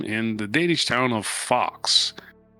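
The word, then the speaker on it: Faxe: the Danish town of Fox. F-A-X-E, Fox. I think that would be pronounced, not fakes. That sounds stupid.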